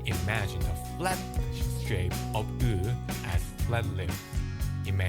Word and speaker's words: ㅡ: First, make the "ㅣ" sound. Keep your lips exactly the same and move only your tongue backward. That's "ㅡ". so it's... Here's another way. Start with "ㅜ" then flatten your lips without changing anything else. That will also get you close to "ㅡ".